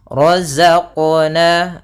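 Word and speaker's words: رَزَقْنَا: Kemudian yang kedua dia menambahkan di huruf qalqalanya ada hamzah, misalnya razaqna ke. Nah, itu ada tambahan hamzahnya. Sehingga dia tidak dibaca dengan tambahan hamzah ataupun yang seperti tadi. Maka cara membacanya adalah razaqna razaqna.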